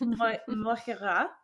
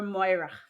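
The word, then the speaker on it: Mogh Ruith: druid called Moira, and it's kind of like Moira, and it's written like Mogh space Ruith. So you can see by the way that I'm trying to say it versus the way that it's spelled, like for like English language mind, it doesn't totally connect. So, anyways, but it's pronounced Moira or Moira.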